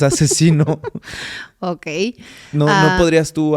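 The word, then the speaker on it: Aczino: a c Z entonces hay gente que no sabe cómo se pronuncia y le dicen axino pero es asesino Okay no no podrías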